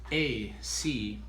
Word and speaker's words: academy: It's important when you're saying in English, where's the up sound and where's the down Accent? sound. Yeah, right. Okay, because if you put the accent on the wrong syllable, it really is difficult to understand what you are saying.